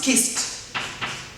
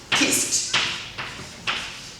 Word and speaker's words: kissed: Simple past is kissed. Kissed. Kissed. ST here. ST. Kissed. She kissed me on the cheek.